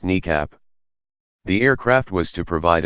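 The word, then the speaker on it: NEACP: The E-4 fleet was originally deployed in 1974, when it was termed National Emergency Airborne Command Post, NEAP, often pronounced NECAP.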